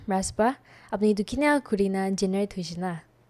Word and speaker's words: Raspa: So I tried to break the syllables and interchange the syllables. Like it's Paras, so I put Raspa in front, that's Ras interesting. in front, and Pa in back end. So Very clever. it's like Raspa. So if you keep pronouncing Raspa, you will heard Paras.